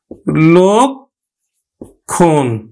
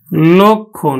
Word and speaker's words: লক্ষণ: লক্ষণ যদি আমরা দেখো, এবার ক্ষীয়টা কোথায় আছে, শব্দের মাঝে আছে, তার লয়ের সাথে যে অধ্বনিটা আছে সেটা কিন্তু ওকারে উচ্চারণ হবে। তাহলে আমরা উচ্চারণ করবো কিন্তু লক্ষণ, লক্ষণ, আমরা উচ্চারণ করব লক্ষণ।